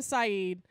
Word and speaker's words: Saeed: This guy, Adam Saeed, and I always call him Adam Said because that's how it's spelled, but it's Adam Saeed.